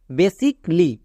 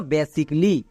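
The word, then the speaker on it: basically: next এবার নিচে দেখো বেসিক লি এখানেও এ এর পরে এল এল ওয়াই আছে তার মানে এখানেও এ এর উচ্চারণ হবে না তাহলে কি দাঁড়াবে বি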